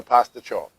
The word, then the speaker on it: pasticciotti: There are, I believe, several ways to pronounce that. Every time I've picked them up at the local Italian bakery I like to go to, they call them the Pasticciotti. So that's what I'm calling them, is the Pasticciotti.